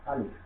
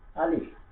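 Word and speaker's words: ا: সরে আ লসের লি ফ, আলিফ, এখানে ফ দিয়ে উচ্চারণ করতে হবে। সরে আ লসের লি ফ, আলিফ, তারপরে বা, ঠোঁট মিলিয়ে উচ্চারণ করতে হবে।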